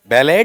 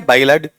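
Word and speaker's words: ballad: अरे उच्चारण सिखा रखा है बेटा। गलत मत करो। बैलड या बायलेड।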